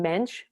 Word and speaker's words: Mendes: aristidis de souza mendes the portuguese pronounced pronounced his name mensch which is very um